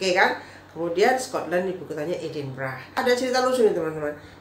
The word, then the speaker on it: Edinburgh: Kemudian Scotland ibu kotanya Edinburgh. Ada cerita lucu nih teman-teman. Dulu saya tuh waktu belum tinggal di Inggris, saya membacanya Edinburgh gitu, Edinburgh gitu kan. Katanya setelah di sana, oh bacanya Edinburgh ya, Edinburgh.